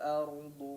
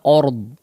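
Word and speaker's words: الأرض: Hamzah tetap betul-betul diucapkan dengan fathahnya ya, dengan harakat fathahnya, jangan ord ya, o. Jadi bunyinya seperti o ya, tapi a, ard ya, ard.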